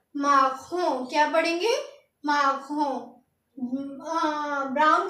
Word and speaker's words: marron: तो ब्राउन को हम लिखते हैं MARRON और इसको पढ़ेंगे हम, इसकी प्रोनाउंसिएशन होती है MAHRAHN। तो इसको पढ़ेंगे क्या? इसको पढ़ेंगे हम माखों।